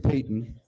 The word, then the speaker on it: Payton: It's spelled like Patton, but George Payton.